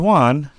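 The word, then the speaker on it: Wan: Showed us the first ever Avatar, and his name was Juan. Another Juan. DJ Khaled. But yeah, so I'm like, when I heard his name, I was like, wait, did he just say my name? Yep. And then I literally paused it, put it on subtitles, and then it's spelled W-A-N, which I'm just going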